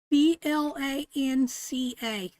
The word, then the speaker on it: Blanca: How do you say that, babe? Blanca.